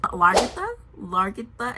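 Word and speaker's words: Lagertha: Largitha is how you pronounce her name.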